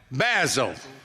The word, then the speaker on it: Basil: We're here talking to Basil. Basil. That's the English pronunciation.